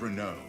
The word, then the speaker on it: Renaud: His name is Renaud, formerly a proud servant of Queen Elenia. That's how you pronounce that.